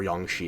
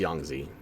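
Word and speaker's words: Yangtze: And here's the Yangzi Memorial or Yangi if you prefer. Pretty sure it's pronounced Yangzi.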